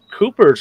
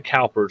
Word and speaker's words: Cowper's: You can have an excess from the Cooper's gland, not the Cowper's gland. Fun fact. I said that wrong for a long time. Well, to be fair, it's spelled Cowper's.